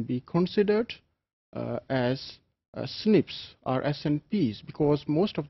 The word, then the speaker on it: SNP: Single nucleotide polymorphisms or SNPs commonly pronounced as snips.